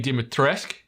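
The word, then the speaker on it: Dimitrescu: in Village like obviously lady dimitrisk is is the pronunciation that's been confirmed like um you hear that constantly in the in the game so yeah lady dimitrisk is the obviously the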